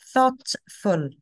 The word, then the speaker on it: thoughtful: hopeful a thought thoughtful remember the GH are silent yes thoughtful okay thoughtful here is